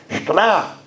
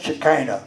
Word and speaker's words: Shekinah: And actually, it's not Shekinah. That's not Hebrew. When I was in Jerusalem with a class in Genesis, the teacher was trying to get me to say it correctly in Hebrew. Shekinah is the way he do it. Not Shekinah. But that's all right. That's Americanism, Canadianism. So you have the paraphrase there.